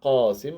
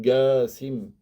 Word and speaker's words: Qasim: Et les Arabes, ils peuvent prononcer le Qa en Ga. S'ils n'arrivent pas à dire Abul Qasim avec le Qa, il peut dire Abul Qasim.